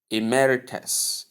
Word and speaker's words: emeritus: You say emmeritus. Emmeritus. Emmeritus. In a transcription, you have short e sound, must sound, short a